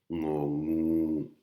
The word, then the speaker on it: งู: Et un nœud un petit peu dur à prononcer, il faut un petit peu s'entraîner. Il faut garder la langue collée au palais. Et c'est quand on décolle la langue du palais que le son nœud sort.